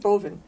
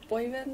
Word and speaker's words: Boivin: Boivin? Boivin. Boivin.